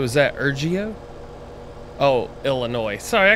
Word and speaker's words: Illinois: I hope you're doing well the S is silent so is that Oh jeah Oh Illinois sorry I call Illinois's yeah all right there